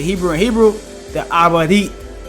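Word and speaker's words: עברית: It's called Joshua, obviously in the English language, but we are studying Hebrew, or how you say Hebrew in Hebrew, the Abadit, right?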